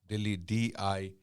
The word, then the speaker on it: Dehli: Okay, some people even call it Delhi, Dilli, but the real name of the city is Delhi. Delhi, Dal Ha Lam Ya. Okay, Dehli.